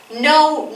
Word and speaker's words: know: que que mantener mantuvo know you a cabo se pronuncia la laca está de adorno no se pronuncia la casi no un